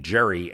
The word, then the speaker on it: Gerry: Not only has he lost his political dignity in history, but But Gerry lost the hard G in his name, and gerrymandering is now an international term for a crime against democracy.